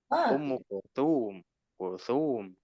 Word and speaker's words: أم كلثوم: Kalau ada yang panjang ditekan di yang panjang. Contoh Fatimah Ummu Kulthum di yang panjang ditekan.